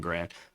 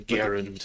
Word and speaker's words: Garand: That's an M1 Grand. But the fucking, or an M1 Garand, as the kids are calling it. The Garand. Yeah. It's the proper pronunciation.